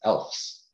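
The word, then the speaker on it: ELFS: that we use is elves. Oh, yeah. So elves, it's not the little elves that are in the North Pole, but they're elves. It's spelled E-L-F-S.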